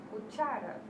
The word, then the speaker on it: cuchara: Exemplo, cuchara. Estas levam tilde quando não são terminadas em S, S ou vocales. Exemplo, cuchara. Cuchara. Então, qual que é a sílaba mais tônica? A segunda sílaba, né?